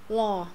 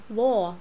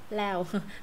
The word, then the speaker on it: law: Law. O. Đó, anh law. Anh Mỹ law, lo vừa vừa thôi. Anh Việt lao.